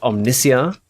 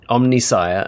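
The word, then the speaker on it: Omnissiah: I read that word, my brain read it as omnisia because that fits with the pronunciations of a lot of other words within 40k. And yeah, it wasn't until years later, it wasn't until like recently I heard someone pronounce it, Omnisire, and I went, "Oh, yeah, that's probably how it's meant to be pronounced."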